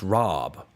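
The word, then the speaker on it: rabe: So So it's supposed to be pronounced rob like with a two a's.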